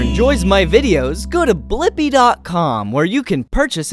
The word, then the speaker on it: Blippi: name do you know my name yeah it's blippy let's spell it together ready b l i PPI blippy